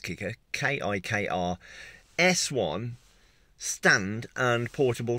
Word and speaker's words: Kikr: here is called the kicker i think it's pronounced kicker kikr s1 stand and